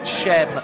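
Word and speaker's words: Cem: It is Chem, certainly not Sem.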